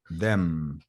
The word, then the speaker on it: them: have okay yeah um to pronounce the letter M you have to touch your lips right your lips like them them yeah perfect coming back